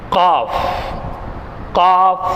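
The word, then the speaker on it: ق: ஃபாரிங்களா அடுத்து காப் காஃப் இதுவும் ஏறத்தாழ கா தொண்டையினுடைய கடைசி பாகத்திலிருந்து அதாவது அது அடி வயிற்றிலிருந்து வரணும் காஃப் காஃப் தொண்டையினுடைய அடிப்பாகத்திலிருந்து வரணும் நாவினுடைய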